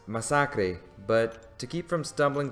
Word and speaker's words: Masacre: okay first off I know that it's actually pronounced Misaki but to keep from stumbling through the whole video I'm just going to stick with Massacre this guy in my humble opinion is truly